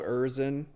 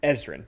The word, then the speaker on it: Ezrin: They bring in Bob Erzin. Excuse me, Bob, I mispronounced, Ezrin, Bob Ezrin, right?